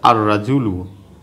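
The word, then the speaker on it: الرجل: আমি দিই হুরুফুল শামসিয়ার উদাহরণ, যেমন এখানে আছে আর রাজুলু, আর রাজুলু, এই যে শব্দটি আছে আর রাজুলু, এখানে কিন্তু আলিফ লামের উচ্চারণটা হয় না।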